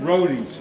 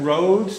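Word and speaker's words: Rhodes: happening and contamination question uh now you said Roadies is that roads the island I mispronounced this yeah and it's very interesting because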